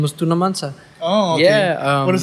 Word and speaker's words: Tuna Mansa: Today I'm here at, well, how do you pronounce the word? Because sometimes I get confused with the name. It's Tuna Mansa. Tuna Mansa.